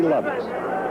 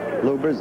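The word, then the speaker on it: Lubbers: Muhammad Ali against Rudy Lovers or Lubers. It's pronounced both ways. Lubers is probably more technically correct. Anyway, it's the way Rudy wants it said.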